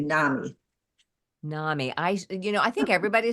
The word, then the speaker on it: NAMI: And in the Midwest, we say NAMI. NAMI. I think everybody says NAMI, but enough people say NAMI that I slips. I know it rhymes with mommy.